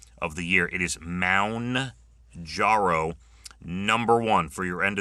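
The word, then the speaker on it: Mounjaro: Apparently that is the most mispronounced thing of the year. It is Mound Jarro number one for your end of the year most misprononunciations.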